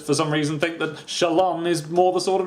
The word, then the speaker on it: Shallan: official pronunciation of, but I'm guessing it's going to be a bit like Shalon. Emphasis on the second syllable and pronouncing it as an on rather than an an because it's American. This is an American book. She could be called Shallon, but something tells me she isn't.